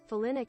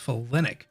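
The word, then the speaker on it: folinic: that oh folic I guess on folic acid phelanic acid Olynyk oh it's falinic Olynyk Olynyk include Mila lewd Mila oh wait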